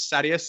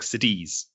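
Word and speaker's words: Sadeas: I think one is Sadius and the other one is like Sidiz.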